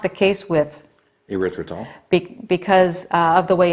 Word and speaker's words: erythritol: safer sugar alcohol, and I always have trouble pronouncing it. What is it? Erythritol.